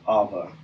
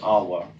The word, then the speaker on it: Eve: Eve, more accurately pronounced Ava, or even Awa.